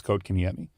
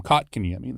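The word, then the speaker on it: Kochetkov: too yeah but so we all thought it was cot KMI and he told us no coat like coat so he's actually said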